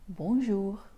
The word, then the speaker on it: bonjour: c'est bon alors ensuite la lettre J comme qu'on dit J en portugais on verra des litres dans la leçon de ces prononce un peu comme quand tu dis joli par exemple donc bonjour ensuite très important les